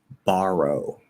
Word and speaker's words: borrow: is for ah okay so here we have ba but it's r colored okay so it's it's not just ba row it's bar but then the r is also connected to the o because so it's going to sound like bar and it's also going to sound like row at the same time borrow okay so what you're